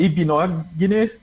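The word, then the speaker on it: Igbinoghene: O primeiro G é mudo, é Ibinogny. Ibinogny.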